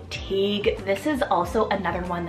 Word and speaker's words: Teague: the boy side is Teague spelled t-e-a-g-u-e TIG this is also another